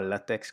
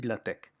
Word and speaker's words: LaTeX: T e x d'accord ça ne se dit pas latex comme la matière mais ça se dit latch comme technique d'accord donc si vous